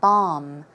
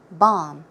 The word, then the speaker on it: balm: about Palm line surgery there is an L however it is not pronounced the L is silent so it should be pronounced as a b a hm a long a sound bomb bomb okay uh and that